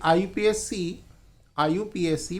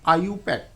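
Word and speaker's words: IUPAC: लेकिन ऑथेंटिक जो प्रोनाउंसिएशन है इसका, जो आईपीएससी को प्रोनाउंस किया जाता है वो आईयूपैक।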